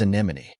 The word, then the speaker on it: anemone: it is spelled as an O the correct pronunciation of this word is anemon anemone means a type of flowering plant with